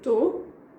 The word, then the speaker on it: tou: And then the answer, again, I'm skipping the beginning of the word, of the verb. So I say tô, I am, we just say I am.